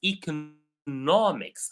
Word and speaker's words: economics: more stress on co economy I'm studying economy or the economy is very down these days or recently but the field is economics I'm putting the stress on a different word or a different syllable so this is what